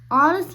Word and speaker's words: honest: so he is an honest man and I trust him completely here I put n because this word starts with silent h remember we said if